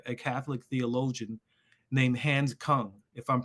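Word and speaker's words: Küng: book written by a Catholic theologian named Hans Kung, if I'm pronouncing it correctly. Hans Kung, yes, Hans Kung.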